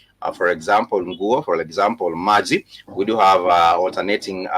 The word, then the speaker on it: maji: But the word maji has that ma and g, which is the syllables, the alternating vowel sound. Ma, let me just put it down. Maji, M-A-J-I, maji, which is ma with the syllable a, and g with the syllable e.